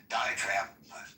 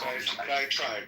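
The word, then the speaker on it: diatribe: Um, and by the way, the more I think about Dioenesis, diet trade, um, diet trap, how do I pronounce that? One of diet tribe tribe. Diet tribe. Thank you.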